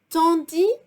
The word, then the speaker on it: tandis: Now, tandis que. The S is silent at the end of tandis.